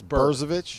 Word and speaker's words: Brzovic: It's Burr. It's Brzovic. Brzovic. Burr.